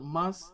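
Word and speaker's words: ます: If you hear the word mas, it's not masu. It's not masu. It's mas. MAS. The U is silent.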